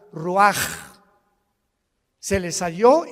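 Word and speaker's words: ruach: exhaló Isaac el Roach así como suena se pronuncia la c en hebreo como J ruaj se le só y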